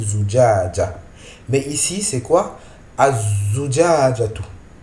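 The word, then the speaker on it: الزجاجة: Ici, on ne prononce pas le lam du alif lam. On ne le prononce pas. Mais on appuie, on met une shadda sur la lettre qui suit. Ici, c'est la lettre zayn. Az-zujajatu. On ne peut pas dire al-zujaja, non.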